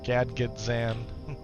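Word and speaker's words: Gadgetzan: Gadget Zan.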